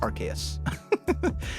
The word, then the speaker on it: Arceus: I pronounce it Arceus.